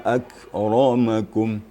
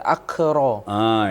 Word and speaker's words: أكرمكم: Kemudian inna akramakum. Ini kaf sukun bertemu dengan ra, itu juga kita harus hati-hati membacanya. Dia akan agak mirip-mirip suaranya. Akr, gitu. Jadi takutnya menjadi qalqalah ya Ustaz, akro.